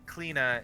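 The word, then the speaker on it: Clíodhna: that one there is cleaner uh and cleana is spelled c-l-i-o or d-n-h-a she points to the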